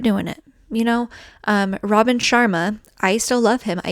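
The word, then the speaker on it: Robin Sharma: Um, Robin Chararma, I still love him. I even learned how to say his name, right? Robin Chararma just said that, you know, the most important thing is that you just start.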